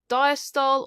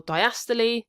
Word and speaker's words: diastole: So then if we have a look at the cardiac cycle, it can be split into three key stages: diastole or diastole, depending how you pronounce it, atrial systole or systole, and ventricular systole or systole.